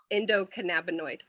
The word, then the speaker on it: endocannabinoid: Endocannabinoid.